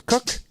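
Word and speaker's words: Kok: So I have a buddy whose last name is Cook, spelled K-O-K.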